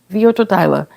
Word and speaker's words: Werturteile: Werturteile. They pronounce the W like a V. Werturteile.